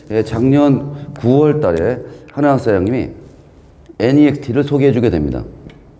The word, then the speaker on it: NEXT: 이거를 넥스트라고 읽으면 안 돼요. NEXT.